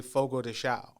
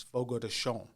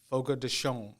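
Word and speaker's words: Fogo de Chão: the states they say Fogo Thea but it's actually the correct pronunciation is Fogo to show Fogo toon like the N is dropping off of it all right Fogo toon perfect okay cuz I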